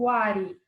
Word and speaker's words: Wari: Agora nós temos o outro povo chamado Huari ou Wari, tá? Tem essas duas pronúncias.